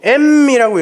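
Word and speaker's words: אם: 알레프 맴이라고 써놓고 엠이라고 읽어요.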